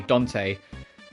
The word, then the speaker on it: Dante: andan speaking of Dante or to be to to pronounce the name properly Dante um I have and